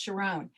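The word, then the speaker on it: Sharón: There's actually Sharon in every country, just pronounced differently, like mine is pronounced Sharon.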